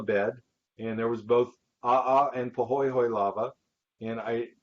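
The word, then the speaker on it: ʻaʻā: kind of lava is called aha because you pronounce both letters ah lava okay and then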